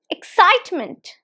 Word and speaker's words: excitement: word is pronounced as excitement excitement not excitement no excitement there are how many syllables excitement three syllables and the stress is on the second syllable excitement excitement excitement repeat